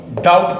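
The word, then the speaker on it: doubt: समझने की जरूरत है दी ओ यू डी टी डाउट पढ़ते हैं इसको बी साइलेंट होता है इसमें कोई शक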